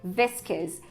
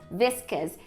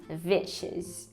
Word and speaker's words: viscous: Bom, então, pelo menos de acordo com as minhas referências aqui, essa palavra é viscous, viscous, e não vicious.